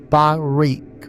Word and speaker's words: Barak: Barak is pronounced Barik, with a guttural key sound at the end like clearing your throat gently.